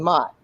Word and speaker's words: Mott: It's pronounced Queen Mott.